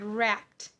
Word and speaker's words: wrapped: What is the ending sound? P. Again, unvoiced.